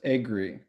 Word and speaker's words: Agre: It's pronounced Agri.